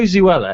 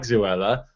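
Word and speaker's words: Zoella: But it's funny because my girlfriend now doesn't like Zuella because she's popular. Oh, I love it. I love that you say Zuella to rhyme with Zuella Cruella de Vil.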